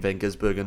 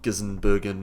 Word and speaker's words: van Gisbergen: S1 ap4 car um for those Americans it is Shane Van gisbergen not gizen Bergen or however the hell they try and pronounce it and now a